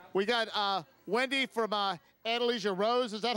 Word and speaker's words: Andalusia Rose: We got Wendy from Andalusia Rose. Is that how you say it? Andalusia Rose.